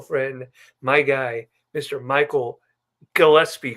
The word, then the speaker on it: Gillespie: Michael Gillespie. Correct? Gillespie, you said it right. Not Gillespie, not That's true. Gillespie, Gillespie. Gillespie. Okay. I see. Gillespie just sounds way too easy, so it's Gillespie.